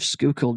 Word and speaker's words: Schuylkill: conspiracy theories Welcome to The Strange World of skookul notes a mysterious series of messages that have